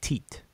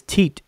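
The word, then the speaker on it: tit: and by the way every each individual glyph is called teat and we transliterate as t i t or some people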